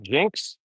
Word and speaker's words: JYNX: Hey, JYNX, I would say that's pronounced Jinx.